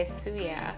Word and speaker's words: Cujak: So half of my brothers and sisters, we say Suyak, and the other half say Cujak.